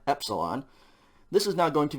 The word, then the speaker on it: epsilon: a long e and we had epsilon before which is the short e e e epsilon this is now going